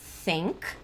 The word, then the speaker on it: think: Então, esse som de TH aqui, por exemplo, eu posso pronunciar ele think, numa boa, mas eu também posso pronunciar ele assim, ó, think.